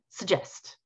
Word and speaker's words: suggest: So usually in English, if a word has more than one syllable, then the syllable that is not stressed is reduced to a kind of like an suggest.